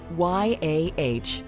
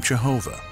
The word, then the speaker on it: Yahweh: Y-A-H-W-E-H. In the 5th century, this word was mispronounced by German Christians.